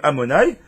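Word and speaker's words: אדני: Pour ceux qui ne connaissent pas, Shem Havaya, donc c'est Yud Kevavke, le Shemanut, c'est le Shem qu'on prononce Amonai.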